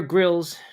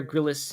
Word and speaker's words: Grylls: right all right so that's Bear Grylls not bear gryllis as I called him uh that's his